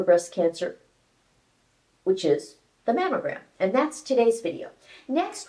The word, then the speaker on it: mammogram: to pronounce the word mamogram correctly it's m o gr it's not M EO gram mammo means memory gland